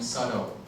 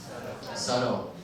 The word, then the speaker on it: subtle: so everyone repeat that mean subtle subtle so notice that b doesn't pronounce in this word okay so it's subtle and so please fa